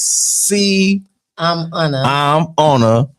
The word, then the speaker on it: Cimona: She didn't check me, but she did check me straight on how it's pronounced. It's C I'm on a M.